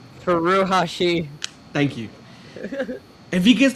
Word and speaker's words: Furuhashi: Furuhashi.